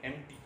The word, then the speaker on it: empty: एम्प्टी मतलब खाली, ई एम पी टी वाई, एम्प्टी, है ना, इट्स ई एम पी टी वाई, इसको एम्प्टी नहीं पढ़ते, एम्प्टी, पी यहाँ पे जो है ये साइलेंट होता है, इसको पढ़ते हैं हम एम्प्टी, लेकिन लिखते हैं ई